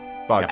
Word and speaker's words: bodkin: Yeah, Bodkin. bodkin. Like body and then Yeah. kin.